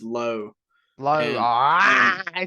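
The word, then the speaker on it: Lowe: I mean, I love it's and I know there's like 14 different pronunciations just in the majors of that last name. He is Low.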